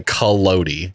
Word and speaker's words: Collodi: Carlo Collodi. That's my Spanish pronunciation. Oh, I would of have done a Italian last very name. American Collodi. version of that. I would have done Collodi.